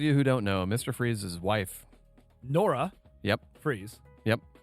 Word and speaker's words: Fries: what is Mr Free's it's freezes not fries it's not Victor Fries cuz it's spelled fries yeah it's spelled fries